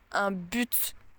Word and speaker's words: but: objectif mais aussi dire un but et oui il y a un T à la fin et oui on le prononce et franchement j'ai pas